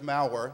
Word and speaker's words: Malware: I can't stand up here and say I've declared the nation of Malware, that's my last name, and even though it rhymes with power, we're not very powerful because there's only five of us.